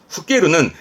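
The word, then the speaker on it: 老ける: 보통 오일은 노세한으로 가고요 뒤에 게르 보이면 발음은 후깨루는 나이 먹다예요 그러니까 나이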